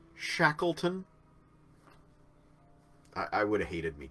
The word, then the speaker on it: Shackleton: It's pronounced Shackleton.